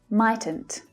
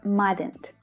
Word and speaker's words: mightn't: Mightn't, mightn't, or mightn't, depending on the accent.